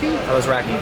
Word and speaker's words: Alazraki: Alazraki.